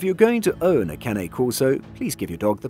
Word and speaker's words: Cane Corso: pronounced but if you're going to own a Cane Corso please give your dog the proper pronunciation it's Kane Corso most people avoid having to explain the pronunciation